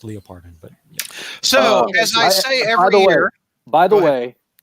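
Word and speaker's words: Leopardon: part on and out leopard on yeah it's actually is pronounced Lia pardon but so by the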